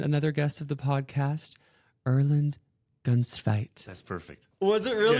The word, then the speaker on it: Erlend Gunstveit: new friend and another guest of the podcast Erland gunfight that's perfect was it really it's really perfect